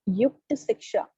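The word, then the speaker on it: Yukta Shiksha: The pronunciation is Yukta Siksha.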